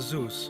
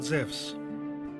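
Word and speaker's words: Ζευς: wrong english translation because correctly he is called zevs in the greek language e and u is pronounced like a w in the word wisdom zephs was the leader of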